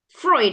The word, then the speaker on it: Freud: Freud. Okay.